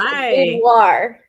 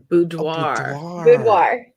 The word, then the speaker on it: boudoir: Hi guys, it's boudoir. Boudoir. Okay, see, I had the ending right. Everything else was wrong. Yep, and I've said it wrong for years.